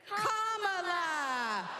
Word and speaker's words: Kamala: got these little girls Comm like a common sentence then you say la like la la la la put it together and it's one 2 three comma all right so let's